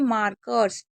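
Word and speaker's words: markers: मार्कर्स क्योंकि ए को बीच ए आर को आर पढ़ते हैं इसलिए मार्क हो गया।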